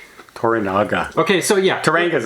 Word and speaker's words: Toranaga: hi Mr Sonata plays teranga I Tanga that's toranaga toranaga okay so yeah Tanga is a place anybody